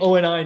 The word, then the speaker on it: ONI: Yeah, at least say it right. Say Oni. Don't say ONI.